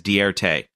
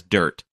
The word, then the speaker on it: Dirt: mopar community have embraced you may pronounce his name as dierte but most of us know him as dirt joe dirt in the